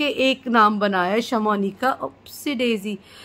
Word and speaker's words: Shamounika: जो व्लॉग्स बनाते हैं, शमोनिका, अब उन्हें बड़ा अजीब सा ये लोग प्रोनाउंस करते हैं, शमूना।